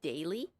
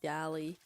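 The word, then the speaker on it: Daly City: It's pronounced daily. Oh, I'm way off. I am way off. I said deli.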